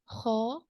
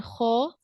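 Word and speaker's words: خ: The ghain and kha, we use our upper portion of the throat when we pronounce these 2 letters.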